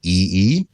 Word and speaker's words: EE: So, there's a company in, it's a carrier actually in the UK called EE, which I will pronounce E.